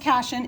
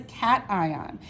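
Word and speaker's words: cation: cat ion all right it's not pronounced cashion it is a cat ion if we were talking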